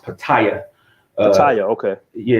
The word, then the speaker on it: Pattaya: Patty it at Patty and Beach where it's pronounced Pattaya Italia okay yeah it's pronounced but I it